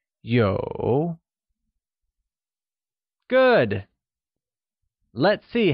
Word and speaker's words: 有: To have translates to 有, and is pronounced with a falling, rising tone. Let's hear you say 有.